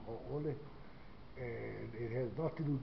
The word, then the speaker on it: haole: More Haole. You know, I don't use the other version called Haole. They say Haole, but it's not really the proper way to say the word Haole.